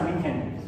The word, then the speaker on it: München: Bueno, ahí se escribe, en alemán se pronuncia München.